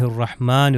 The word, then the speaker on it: الرحمن: اب یہ دیکھیے آپ، یہ ہا ہے اس کے اندر، اور دوبارہ اس کے اندر بھی ہا ہے. بسم اللہ الرحمن الرحیم. ہا جو ہے یہ حروف حلقی میں سے گلے سے تلفظ ہوتا ہے.